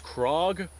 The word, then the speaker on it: Krag: craig so apparently i was told the correct pronunciation is krog but for all intensive purposes i'm going to call it the crag because that is what most people in the